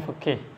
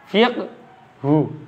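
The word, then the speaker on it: فقه: Bahasa Arabnya fiqhu, fiqhu. Kalau haknya disukun bacanya jadi bacanya fiqhu, haknya disukun. Fiqh.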